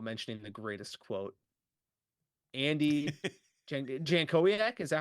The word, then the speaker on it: Jankowiak: Andy Jankowiak, is that how you say it? I think Andy that's correct. Jankowiak?